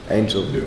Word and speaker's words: Angell: And then, would you please pronounce your surname, because I don't know how I should pronounce that. Angel.